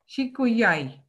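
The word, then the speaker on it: שִׁקּוּיָי: How do you pronounce it? Shikuyai.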